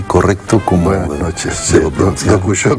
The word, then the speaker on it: Dokushô: Como buenas noches, sí, Dokuso con acento en la O, sí.